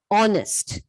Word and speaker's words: honest: A word may begin with a consonant letter, but it has a vowel sound. In that case, we have to use article an. So the example for those words are honest. Okay.